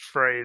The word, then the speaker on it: Freyr: there's a brick decker it's just fray the the second r is silent there's a decker there's